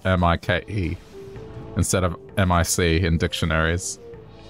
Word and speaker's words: Mike: they gave is because they don't want it to be mispronounced as Mick. That's why they spell it M-I-K-E, so you know to say Mike.